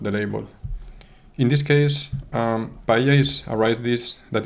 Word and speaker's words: paella: In this case, paella is a rice dish that is very typical from Valencia, the region I'm from in Spain. And when you are using VoiceOver in English, it pronounces it as pila.